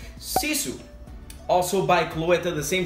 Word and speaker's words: Sisu: it is pronounced according to therese it is pronounced sisu also by cloeta the same company as that